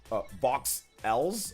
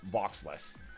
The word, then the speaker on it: Vox Ls: Pronounced Vox Ls. Okay, Vox Ls. Okay. I've been calling you Voxless. Okay, so Vox Ls.